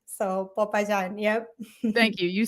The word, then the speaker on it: Popayán: A lot of people want to say like Papa John's or something like that. Yeah. But it's Popayán. So Popayán.